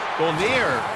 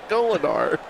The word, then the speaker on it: Golinar: Golinar. How do you get Golnier out of G-O-L-I-N-A-R? I have it typed out, and I still said it wrong.